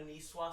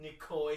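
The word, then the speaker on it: Niçoise: restaurant for lunch and ordered a nishwa salad and called it a nikoy salad you totally pronounced nishwa wrong that's a line from white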